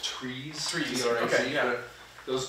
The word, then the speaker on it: TRIZ: Like if it's actually pronounced trees.